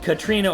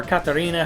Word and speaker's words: Katarina: However, there is a new character called Katrina, or Katarina, however you want to pronounce the name.